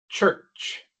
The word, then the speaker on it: church: r, mientras que en la palabra church tenemos ch seguida por r seguida por CH.